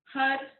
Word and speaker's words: Har: We're going to chant the mantra, Had Hare. So H-A-R, Had, and we'll take the tip of our tongue, press it against the roof of our mouth, and then Hare.